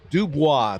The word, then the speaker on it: Dobis: Jameson Dobas 6'2, 210 Dubois. Thank you, Tim. Dubois. Although on the roster they spell it five letters. D O B I S. Okay. Dubois.